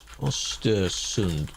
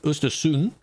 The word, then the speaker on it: Östersund: Östersund pronounce. I just know they don't say the D. The D sound of that. Östersund. Maybe it is a D. Östersund. Östersund. That one does have a D.